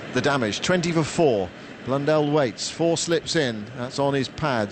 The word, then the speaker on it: Blundell: cricketers 30 31 you're you're picking me up on my pronunciation well it's blonde blundell mitchell is struck on